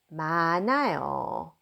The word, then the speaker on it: 많아요: Notice that I pronounce this 마, 나, 요 because a 흐 does not, final 흐 does not pronounce, and bottom 느 spills over right here for the pronunciation. So I'm going to pronounce it as 마 without anything, and then 나요, 많아요.